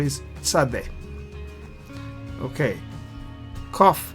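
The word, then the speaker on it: קוף: sound is sad okay cough Cough is sounds like K but a little bit like Q. Quick C. It is not Q but it's only Q sound. There's no U sound and it's only Q sound. Quick a C sound similar to K.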